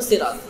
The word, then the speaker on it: সিরাত: বললে যে গুনাহ হবে তা না বাকি সঠিক উচ্চারণ যেটা সেটা হল সিরাত শুধু সিরাত কুল বলার প্রয়োজন যাই হোক শব্দের